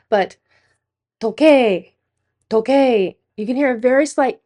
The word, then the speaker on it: Tokyo: When we do a long O sound to the ending sound is an uh in your textbook will write this as T O K Y O O but it is an ooh sound to number three.